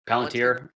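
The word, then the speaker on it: Palantir: Palanteer.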